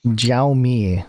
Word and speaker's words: Xiaomi: Xiaomi.